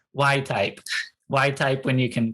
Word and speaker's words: WYTTYP: They're and like, then no, I was like, no, it's not what up. It's Y type.